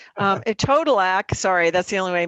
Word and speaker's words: etodolac: united states you know a total act rhymes with ed podillac i always say um a total act sorry that's the only